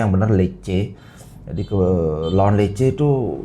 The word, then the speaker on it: Lecce: Jadi bacanya yang benar Lecce.